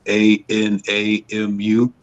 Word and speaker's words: anamu: But I call it anamu. That's ANAMU. It's spelled just like it sounds.